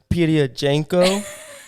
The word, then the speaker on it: Pirojenko: Today we have a special guest with us, Pirojenko.